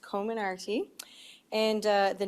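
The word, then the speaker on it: Comirnaty: i actually looked it up and it is pronounced common arty and uh the name actually comes from several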